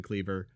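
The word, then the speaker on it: Kliewer: It's pronounced Clever. Spelled hard to spell. Easy to say.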